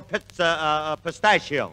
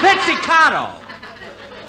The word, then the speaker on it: pizzicato: Hey, fellas, when we do the number on the show, play it a little bit more pistachio. That's pizzicato. Pistachio.